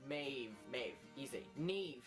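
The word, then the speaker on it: Niamh: Neve. Neve. It's pronounced N-E-E-V. Neve.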